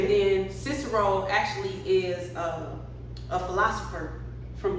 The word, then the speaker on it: Cicero: in Atlanta, Georgia with rapper Cicero. What's going on? What's going on? Cool. So, how do you say your name?